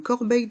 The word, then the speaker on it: corbeille: couverts la fourchette le couteau la cuère une corbeille de pain une corbeille de pain dans le